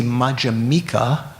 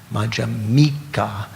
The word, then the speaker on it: Madhyamika: the second syllable, Madhyamaka, Madhyamika. You put the emphasis on the M for the person who is adhering to the Madhyamaka philosophy.